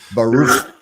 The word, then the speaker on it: Baruch: I'm sorry, I got to pronounce it correctly. Baruch. Gotta spit a loogie when you say it.